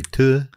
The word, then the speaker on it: Tours: Tours. Could you get our man up? Tours. How do I spell that?